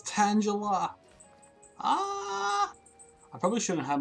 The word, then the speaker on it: Tangela: Do you pronounce it Tangela or Tangela? Because it's, you know, it's tangled up, right?